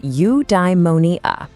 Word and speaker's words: eudaimonia: Okay, I've got a new word for you, eudaimonia. It's pronounced eudaimonia.